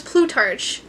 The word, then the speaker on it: Plutarch: It was Plutarch.